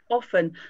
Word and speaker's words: often: in the south in the west of england they pronounce often not often is that correct often so that yeah often they won't do often often often so they again they drop the t sound yeah i know one